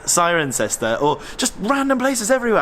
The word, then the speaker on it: Cirencester: I have to go it's siren sester not serener this was another Roman